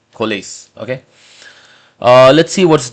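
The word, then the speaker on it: COALESCE: So it is spelled as co o a l e s c e. Collase.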